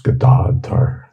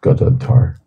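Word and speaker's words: Gadadhara: things like for example how do you pronounce gdadar which is often we often hear pronounced mispronounced as gadar and copinath at copath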